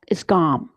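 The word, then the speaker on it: སྒོམ: And so the Tibetan word for meditation is GOM, G-O-M. I have no idea what the characters in Tibetan look like for that. I just know that's how it's pronounced.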